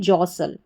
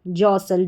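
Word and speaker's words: jostle: और एस टी एल ई इस पूरे को सल करके पढ़ेंगे क्योंकि टी जो है वो साइलेंट है।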